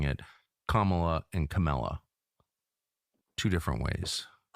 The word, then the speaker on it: Kamala: Not Kamla. Kamala is actually how Indian Indians pronounce it.